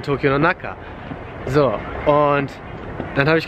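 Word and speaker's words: 東京の中: Und ich meinte jetzt gerade so Tokyo Chu. Aber das ist natürlich falsch, es muss natürlich heißen Tokyo no Naka.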